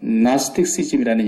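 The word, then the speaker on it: Gnosticism: 우리가 안다라는 말을 헬라 말에서 기노스코라 그러는데 그 기노스코란 말 앞에 G자가 묵음으로 돼서 나스틱시즘이라는 영어가 거기서 나왔어요.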